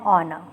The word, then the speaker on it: honor: Exemptions: जैसे when the consonant H is silent. For example, an hour, an honor.